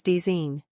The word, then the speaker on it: design: finally the letter G it's silent when it comes before n examples sign design n here's how they're pronounced sign is sign design is desine na is na a